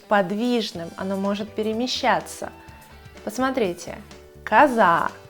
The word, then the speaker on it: коза: Посмотрите, коза, ударение падает на букву А.